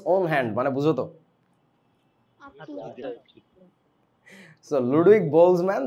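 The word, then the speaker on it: Boltzmann: উনার নাম বারবার আসবে বোলসম্যান কনস্ট্যান্ট উচ্চারণে টিটা সাইলেন্ট থাকবে আর কি বোলসম্যান এরকম আর কি লুক বোলসম্যান স্পেন্ট মাচ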